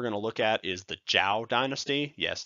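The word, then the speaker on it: Zhou: look at is the Jiao Dynasty yes it's pronounced like that though it's actually sometimes pronounced more like Joe don't worry about it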